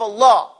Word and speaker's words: Allah: Lovers of Allah, the lamb of Allah, has to be taken into consideration. It has its own pronunciation. When you say Allah, say Allah.